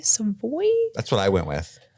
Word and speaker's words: Savoy: Thai Jasmine Savoy Brown I believe that's how you pronounce her middle name s-a-v-o-y some boy that's what I went